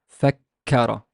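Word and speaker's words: فكّر: C3 here is fa has a fatha, the kaf has a shadda fatha, and the re has a fatha. So it's fakka, fakkara, fakkara, fakkara.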